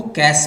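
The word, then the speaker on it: cache: सबसे पहले जो मेमोरी मिलेगी आपको वो कैश मेमोरी होगी। प्रोनाउंस करते हैं कैश की तरह, जैसे पैसा होता है ना, कैश मेमोरी।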